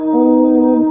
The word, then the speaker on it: ओम: का इसके बजाय आप ओम। इस प्रकार से उच्चारण करेंगे .